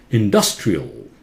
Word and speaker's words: industrial: Industrial. Industrial. A-L at the end of a word. Again, takes L sound. That schwa sound and L.